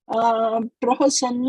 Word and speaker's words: prahasann: So, it will be pronounced as prahasann or prasanna.